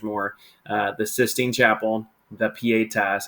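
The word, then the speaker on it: Pietà: His three biggest claims to fame, and you could make the argument, maybe there's more, the Sistine Chapel, the Pieta, that's how you pronounce that, and of course, the David.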